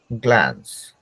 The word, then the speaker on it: glance: Glance, glance.